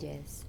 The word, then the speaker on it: Urgelles: Urgelles. Okay. Yeah. That's how you pronounce it, people.